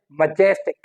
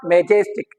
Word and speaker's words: majestic: okay, and the third one is majestic, majestic, it is not majestic as we pronounce it, हम तो mispronounce करते हैं। okay, so this is majestic, majestic, जेस पे जो है वो हमारा क्या है? स्ट्रेस आ रहा है, majestic।